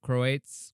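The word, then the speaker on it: Croats: which is serbians C croates croates croates croatians it's croates how do you say is that croates sure c r o a TS we have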